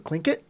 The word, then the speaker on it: Tlingit: It's kind of like we have a native tribe up here called the Tlingit, and it's spelled with a T in the beginning. TL. TL, the Tlingit tribe.